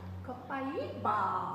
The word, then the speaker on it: copaiba: Copaiba. Copaiba. Copaiba. Beautiful. So, and the reason for the iba is because this comes from Brazil. So that's how they pronounce that, iba.